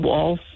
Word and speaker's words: Walz: We pronounce it Waltz. I guess it's like the dance, right?